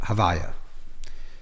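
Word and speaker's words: הוי״ה: certainly in later texts is that it's called havaya. So vav the way it's pronounced havaya the name of havaya.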